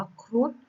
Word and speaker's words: ครุฑ: ต่อ มา นะ คะ คำ ว่า ครุฑ นะ คะ เข้า มา โทร ตัว นี้ เป็น โพล สะกด ออก เสียง เป็น ดอน อีก นะ คะ อ่าน ว่า ครุฑ ความ หมาย ของ ครุฑ